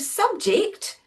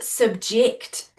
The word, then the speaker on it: subject: So we can have subject and subject. It all depends where you put the stress on the syllable as to whether it's a noun or a verb.